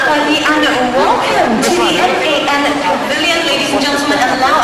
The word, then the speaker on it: MAN: Now, most people would say this is man, but that's not pronounced correctly. It is MAN because it's an abbreviation of three companies that merged.